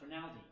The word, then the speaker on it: Rinaldi: So it's actually pronounced Rinaldi, but Rinaldi, yeah, that's okay.